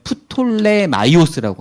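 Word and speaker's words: Πτολεμαῖος: 다스렸던 왕조가 들어보셨죠 프톨레마이오스 보통 이제 영어 성경에서는 피를 빼기 때문에 영어로는 톨레미라고도 합니다 근데 피가 묵음이어서 그렇지 원래 헬라어로 읽으면 프톨레마이오스라고 하거든요 그래서 프톨레마이오스 톨레미 왕조하고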